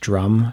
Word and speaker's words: DJ Rum: an electronic artist called I think it's probably just pronounced drum from what I read online, but it's spelled DJ Rum.